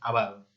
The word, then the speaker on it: avaro: Se dice avaro, no se dice avaro por si acaso, es avaro.